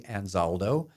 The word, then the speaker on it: Anzaldo: your last name is again how do you pronounce it I said anzaldo she goes oh that's a strange name I